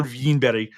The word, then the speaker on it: Winberg: friend of mine, Oscar Vinbetty. I say this because he just told me how to pronounce his name correctly in Finnish. You might pronounce it Oscar Winberg as well, but he